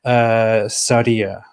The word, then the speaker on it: Sadia: Sadia, how are you doing?